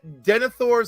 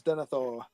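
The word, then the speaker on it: Denethor: stuff with the book too absolutely we get denior Madness we get his mental deterioration is it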